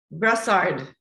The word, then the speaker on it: Brossard: Now, I want you to pronounce your last name. Go for it. Brossard.